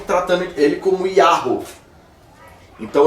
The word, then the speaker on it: Yahweh: No século XVI, a tradução do King James colocou ele como Jeová. Mas o termo mais provável é Yahweh. Mas também não tem 100% de certeza.